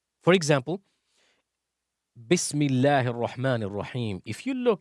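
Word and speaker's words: بسم الله: So when we say Bismillahi Ar-Rahman Ar-Rahim, we do not say Bismi Allahi Ar-Rahmani Ar-Rahim.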